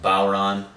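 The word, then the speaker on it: bodhrán: So this is the Bodhran, also pronounced Bowron.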